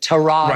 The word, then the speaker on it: Tyrod: who have Tyrod Taylor I know he pronounces at Tehran and I can't I can't do that I'm sorry forgive me for that but I'm gonna say Tyrod Taylor do I like Tyrod